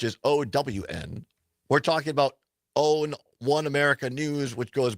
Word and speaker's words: OAN: We're talking about OWN, One America News, which goes by OAN. They pronounce it OWN.